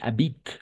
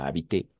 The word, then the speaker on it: habite: Elle habite. Attention, E à la fin aussi est muet. E à la fin est muet aussi. D'accord? Elle habite. Pas habiter. Habite. Elle habite avec ses parents.